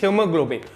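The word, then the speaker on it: hemoglobin: Respiratory pigment क्या है, हीमोग्लोबिन। ये स्पेलिंग ऐसा होता है, हेमोग्लोबिन मत पढ़ देना, कुछ बच्चे स्टूडेंट्स कुछ पढ़ दिए थे भी एक बार, मैंने उनको मना किया था, ये हीमोग्लोबिन, पर तुम्हें तो लिखना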